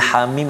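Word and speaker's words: حم: Jadi Hamim ini cara baca dia iaitu ha itu tak ada harakat, mana ha baris atas ha jangan panjangkan, jangan ha jangan panjang, ha tak ada harakat itu.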